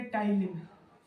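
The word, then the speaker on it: ptyalin: जाता है जिसको बोलते टाइलिन स्पेलिंग लिख देता हूं टाइन प से शुरू होता है पढ़ जाता है टाइन य एंजाइम क्या करता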